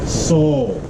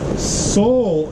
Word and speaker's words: soil: and in southern Appalachia we don't say soil how do we pronounce soil in the South Seoul right Sol is a sacred thing